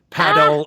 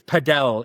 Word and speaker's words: padel: I think it's I always say paddle. I think it's padell is the way that they pronounce it.